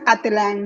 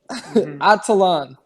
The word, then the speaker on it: Atlan: It's pronounced Atelan, not Atalan.